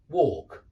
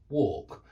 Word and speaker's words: walk: It rhymes with talk. Yeah, talk, walk, talk, walk.